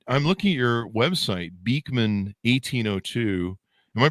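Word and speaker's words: Beekman 1802: Anyway, uh, so now you guys have created I'm looking at your website, Beakman 1802. Am I pronouncing that right?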